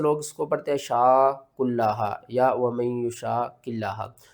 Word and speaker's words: شاق: اس کے ہجے پہلے کر لیتے ہیں، شین الف قاف مد زبر شاق، قاف کو آپ نے موٹا کر کے بھی پڑھنا ہے، قاف کے اوپر قلقلہ بھی کرنا ہے، ٹھیک ہے نا؟